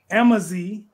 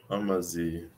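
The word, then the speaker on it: Amazigh: Which African group proudly calls themselves Amazi, meaning freemen or noble people? A. How do you pronounce?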